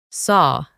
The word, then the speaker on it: saw: Cuando nos encontramos con una A y una W juntas, pronunciamos O. Sierra. Saw.